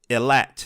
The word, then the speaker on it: Ilat: ancient ones, Prophecy of Ilat. Did I pronounce that right? You pronounce it correct, yes.